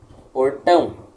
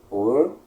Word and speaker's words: Portão: Exemplos. Portão. É uma sílaba tônica no tão. É uma oxítona. Portão.